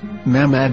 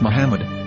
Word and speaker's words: محمد: form with no vowels, it can be read as Muhammad which is the name of the Muslim prophet or as Mahmad with no a after the H.